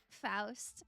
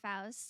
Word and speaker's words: Faust: Faust, that that is how you say it in in German. I think I think it's a Germanic name. And I think most I know some people do pronounce it fast and that's okay.